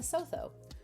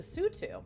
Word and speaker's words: Lesotho: is very hot okay the sotho uh am i saying it correctly listen the tsutu the sutu okay i was not